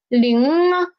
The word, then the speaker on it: 零: So when I want to say it's zero, 零, 这是零, 零. So when I said pronounced 零, at the end of 零, my tongue position is still at here.